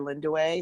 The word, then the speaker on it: Lindiwe: Linda way that spelled Li in D ìwe but it's pronounced Linda way GRE en WOD for those of you